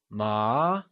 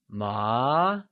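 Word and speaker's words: 麻: Note that hemp, which is a variety of fabric, translates to ma, and is pronounced using a mid-rising tone, also called the second tone. Let's try and say ma.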